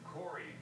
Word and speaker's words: Cory: There's a reason Cory rhymes with glory, and Lou rhymes with number two.